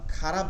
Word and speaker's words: خ: এরপরে খ, খয়ের উচ্চারণটা হলকের শেষ থেকে এখানটা তালুতে ঘষা খাবে। এই যে তালু যেটা আছে, আমরা মাখরাজের সময় এগুলো চিত্র সহকারে আরো দেখবো, স্পষ্ট হবো। তালুতে গিয়ে ঘষা খাবে, যেমন কফ ফালানোর সময়